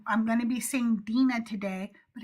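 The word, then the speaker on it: Dinah: And so I'm going to be seeing Dena today, but it's the same person. Okay. Genesis 34:1, Dena, the daughter of Leia, whom she bore to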